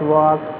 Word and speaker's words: walk: You have to pronunciate it where the silent things are given like that, like we pronunciate talk, the L is silent like that, walk, that is L is silent.